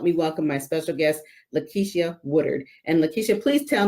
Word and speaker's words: LaKitia: welcome my special guest Leticia Woodard and Leticia please tell me if I got your name rags I'm not probably butchered it up you are perfectly fine my name is pronounced Lakeisha but I I'm used